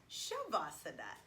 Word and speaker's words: savasana: asana that we'll be working on is called shavasana and oh look it's on my shirt when's shovasana so you'll see sometimes it's spelled sh and sometimes it's spelled s a